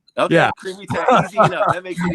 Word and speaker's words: Crimi: It's creamy, like the texture. Okay, yeah. Crimi, easy enough. That makes it easy. So S. Crimi.